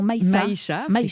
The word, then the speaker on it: Maïcha: Et je rappelle aussi que vous êtes la fondatrice d'une formidable association, Maïcha Africa. Est-ce que je le prononce bien? Non, Maïcha, c'est ça, Maïcha Africa.